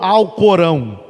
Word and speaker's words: Alcorão: bem semelhantes algumas diferenças corão ou alcorão existe essas duas pronúncias da palavra ao porão ou o